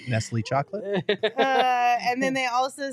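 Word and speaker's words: Nestlé: I think it's kislay may nisl go that's pronounced correct nestly chocolate and then they also said KD is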